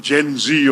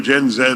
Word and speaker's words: Gen Z: And I think the important thing is uh today's younger generation the the Gen Z or Gen Zed or whatever you want to call them Gen Z seems to be the preferred pronunciation.